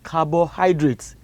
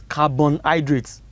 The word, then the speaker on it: carbohydrate: be looking at is carbohydrates now children i wanted to pronounce it because i have heard so many of you pronounce it as carbon hydrates it's not carbon it is carbohydrate okay and what are